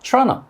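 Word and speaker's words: Toronto: 소리만 먼저 말씀드리면 따라해볼게요 truna 그런데 이게 트러너가 뭘까 궁금하시죠 바로 캐나다의 도시 토론토를 의미합니다 우리가 알고 있는 토론토가 영어로 하면 토론토인 것 같잖아요 하지만 우리가 영어로 토론토 발음 소리를 들어본 적이 없으니까 이렇게 쉬운 단어도 알아듣지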